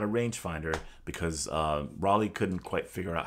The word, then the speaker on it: Rollei: Rollei is the proper pronunciation. We say Rollei.